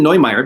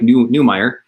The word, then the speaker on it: Neumeyer: newmeier i was pronouncing neymar because i love german descent so i when i see an neu i when i see an eu i think oy instead of um but it's newmeier um and he is